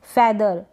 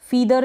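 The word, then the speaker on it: feather: spellings देख लेते हैं फेदर फिदर नहीं पढ़ेंगे इसको फेदर ए फिर इसको ब्रीड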